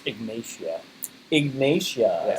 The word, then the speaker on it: Ignatia: Ignatia. I Yeah. said Ignata. Ignata, there's an I in it. Ignatia makes sense, yeah. Yeah. Like like it's almost like igneous rock, Ignatia. It's like igniting, Ignatia.